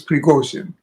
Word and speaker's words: Prigogine: Yes, he says, everybody says Prigozhin. He says it's Prigozhin. Because he was Russian by origin.